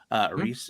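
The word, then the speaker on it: Rhys: But I What's think the pronunciation? Is more powerful. Reese Ifans.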